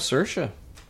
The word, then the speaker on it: Saoirse: Before the podcast, Nate asked AP how he would pronounce that girl's name. Saoirse. Saoirse? Is that what you said? I said Saoirse.